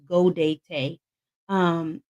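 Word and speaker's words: Gaudete: spelled g- a u d te and it's pronounced goate um this Sunday it signifies our joy that Christmas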